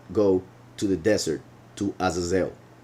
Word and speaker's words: Azazel: to the desert to Azazel or azazil as some people pronounce it in English so the Beast will